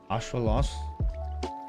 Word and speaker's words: axolotl: to read in fact the way you pronounce axolotl in nahuatl is like ashwalos put your tongue right